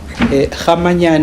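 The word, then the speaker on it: Kgamanyane: Kamayan is K G A M A N Y A N E. Did I pronounce it correctly?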